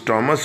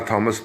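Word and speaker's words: Thomas: کرنا، دیٹ تھامس Hobbes, جس کا صحیح تلفظ ٹامس ہوگا، آپ بہرحال تھامس پڑھ لیں، کہ تھامس ہابس واز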